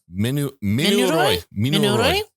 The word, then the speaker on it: Mouni Roy: Minuroy.